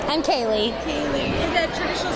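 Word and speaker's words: Kailey: Kaylee. Is that traditional spelling or how do you spell it?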